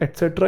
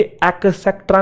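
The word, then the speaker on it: et cetera: Big, happy, green, crazy, ये सब के सब एटसेट्रा, ये सारे, ये एक्सेट्रा नहीं है, एक् क नहीं है, कबूतर वाला, एट है, टमाटर वाला, एटसेट्रा। ठीक है, बचपन से हम लोग गलत बोलते हैं।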